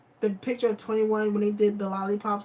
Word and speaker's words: 2NE1: The last group spells their name 2NE1, pronounced 21 or 20.